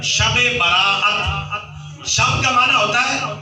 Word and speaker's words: شب برات: گیا ہے شب برات۔ بعض بھائی کہہ دیتے ہیں شبرات، شبرات کا تلفظ غلط ہے، شب برات۔ شب کا معنی ہوتا